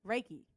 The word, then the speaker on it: reiki: got um rikki reyke reiki is it reiki reiki that's how you say it i got reiki